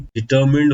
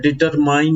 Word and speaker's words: determine: और pronunciation of the word डिटरमाइन नहीं है, दिस इज डिटर्मिन।